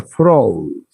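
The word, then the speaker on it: Froude: En cambio, fíjense, el número de Freud se pronuncia Freud. En vez de Freud, de Freud, sacarle la E.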